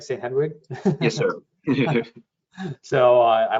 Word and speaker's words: St. Hedwig: Hedwig, did I pronounce that right? St. Hedwig?